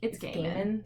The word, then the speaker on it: Gaiman: I probably say his name wrong. It's Gaiman. It's Gaiman.